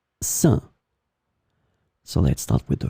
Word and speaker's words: sein: In this lesson, we will see together 3 words that are written differently but pronounced the same way. Saint, saint, saint.